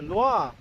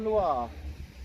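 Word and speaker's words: Loire: The Lir. The river Lir.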